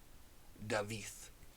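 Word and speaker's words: Dafydd: and the Double D at the end is pronounced with a so David so anyway that was the non-spoilery section of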